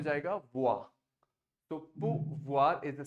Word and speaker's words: pouvoir: Pouvoir. Pouvoir. Voilà. So VOIR voir. हाँ, देखिए, yeah. OI is ua, V लग गया तो व और R को touch करना है.